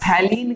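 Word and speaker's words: phthalein: Next reaction हमारे पास थैलीन condensation. कौन सी reaction है, थैलीन कंडेंसेशन। ठीक है, पीएच जो है ये साइलेंट रहेगा, तो इसको हम बोलेंगे थैलीन कंडेंसेशन।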